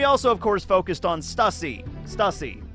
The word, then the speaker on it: Stussy: pronounce her name any i think in the japanese it's stucy and in the uh english because the english dub of this just came out they pronounced her name stussy so whatever you can